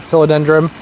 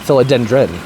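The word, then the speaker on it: philodendron: So this billet billy filidendrum dum, that's not how you say it. Filadendrin, not dumb.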